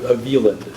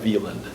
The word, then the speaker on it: Vivadent: it's spelled with a W and pronounced with a V.